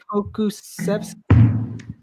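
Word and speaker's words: Pokuševski: I think Alexei Puksevsky is how you pronounce that. It's Alexei Pokusevsky. That's what it's pronounced.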